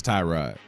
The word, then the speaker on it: Tyrod: to clarify that and he's like no it's Tyrod there's several Nam out what are we doing